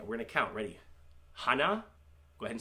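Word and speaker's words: 하나: 1, Hana. Sounds like Hana.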